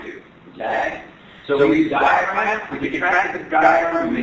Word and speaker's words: diaphragm: So the diaphragm, as spelled here, diaphragm, which is true, that's spelled D silent, okay?